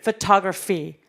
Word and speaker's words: photography: 자, 사진술 photography. 그래서 photograph 할 때 강세가 앞에 왔다라면 photographer 내지는 photography 같은 경우엔 중간에 강세 오니까 이 부분 꼭 기억하시고 정확하게 발음해 주실 줄 아셔야 되세요.